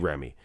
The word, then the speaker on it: Ramy: grammy mom dwells by oh i said i wasn't going to say his name till i learned it properly the proper way to say it but it's big remy it's big grammy 2015